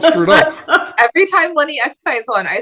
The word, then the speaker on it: Eckstein: It's his last name, because I always wanted to say Steen instead of Stein, so I have to spell it messed up for me.